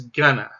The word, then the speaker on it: gonna: You might also hear it pronounced as gunna. So somebody might say, I'm gonna get a taco, I'm gonna get a taco, I'm gonna get a taco.